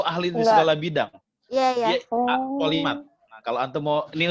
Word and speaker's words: polymath: Polimat. Nah, kalau antum mau, ini Ustaz kasih usulan nama polimat, nama angkatannya. Polimat itu tulisannya POLYMATH. Polimat. Polimat bacanya ya.